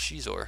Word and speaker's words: Xizor: It's Xizor. Did they tell you how to pronounce it?